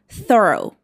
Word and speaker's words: thorough: It should be pronounced like thorough.